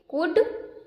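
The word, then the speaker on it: could: की ही कुड नॉट इसे क्या पढ़ेंगे कुड because L is silent okay पर वो नहीं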